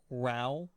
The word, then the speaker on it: Ralulk: So it's Ralulk. Ralulk. Ralulk. So it's a combination of the name of a Pokemon and the Hulk.